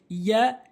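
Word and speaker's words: ي: ইয়া, ইয়া, ইয়া, ইয়া, এখানে 5 লেখা রয়েছে, অর্থাৎ জিমে আর শিন আর ইয়া এই 3টি হরফ একই জায়গা থেকে উচ্চারণ হয়, অর্থাৎ জিব্বার মাঝখান উপরে তালুর সঙ্গে, জিব্বার মাঝখান উপরে তালুর সঙ্গে।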